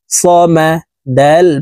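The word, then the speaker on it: الصمد: স মিম জবর মা সমা দাল পেশ দু সমাদু দালকে ওয়াকফুর ক্ষেত্রে সাকিন করে ফেলবো সামাদে নিচের দিকে ধাবিত করে ধাক্কা দিয়ে কলকলা করে উচ্চারণ করতে হবে দালকে সাকিন করতে হবে সামাদ আল্লাহুস সামাদ আল্লাহুস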